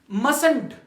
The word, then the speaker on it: must: यहां पे हमारे पास टी क्या है साइलेंट है टी मस मस नहीं है मस है मस यानी जो हम